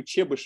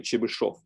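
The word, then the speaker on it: Chebyshev: Charles drawings related to chewbush of polynomials I mean actually correct pronunciation is probably chibashov is my distant mathematical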